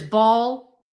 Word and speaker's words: Baal: That's what Baal worship was all about was taking the babies, the children, and throwing them into live fire to ba. Some people pronounce it as ball.